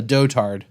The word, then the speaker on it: dotard: I have it as a dotard. Yeah, I I thought you would. That's the pronunciation.